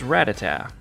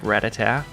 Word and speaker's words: Rattata: And this Pokémon is Rattata. But if you're like me and you've been saying it like Rattata, well, you're wrong. It's actually Rattata.